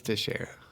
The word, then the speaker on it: Teixeira: There's a major league pitcher named Teixeira, and it's spelled the same, and I'm always like, that's gotta be it, right? Yeah, it's Teixeira.